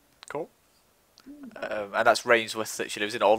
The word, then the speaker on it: Rainworth: And that's Rainsworth that she lives in, or Reneth. If you're local, it's Reneth, yeah. Reneth. It's Reneth, even though it's not spelt Reneth. No, it's spelled Rainworth.